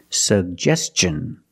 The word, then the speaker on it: suggestion: pronounce both sug Gest suggestion and Tin the T makes the CH sound so together suggestion suggestion but stress on the second syllable he made a suggestion